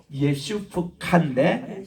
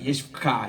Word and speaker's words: 예슈카: 예슈프카인데 그냥 예슈카 이렇게 읽으세요.